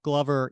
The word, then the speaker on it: Glover: It's Glover, right? Glover, like a glove.